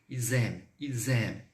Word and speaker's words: ils aiment: Então, vou adicionar, vou colocar uma ligação. Ils aiment, tá bom? Avec un som de Z.